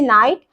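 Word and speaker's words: knight: और यहां पर देखिए 12 नंबर में जो शब्द है मेरे पास 12 नंबर में यहां पर स्पेलिंग पढ़ते हैं एन आई जी एस टी नाइट।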